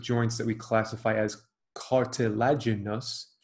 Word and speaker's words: cartilaginous: There are two types of joints that we classify as cartilaginous, five syllables, cartilaginous.